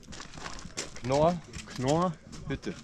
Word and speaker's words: Knorrhütte: Knorrhütte.